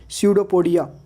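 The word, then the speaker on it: pseudopodia: पी is silent before S टी एंड एन, एस टी या एन के पहले पी, एस टी और एन के पहले पी साइलेंट होता है। फॉर एग्जाम्पल स्यूडोपोडिया, अमीबा का जो शरीर होता है स्यूडोपोडिया का बना होता है।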